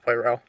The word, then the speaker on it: Poirot: And the guy who played Poirot, I think it's pronounced Poirot, the detective in the film, he was pretty good.